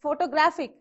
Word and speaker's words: photographic: If it is photographic, again from the back, the second one.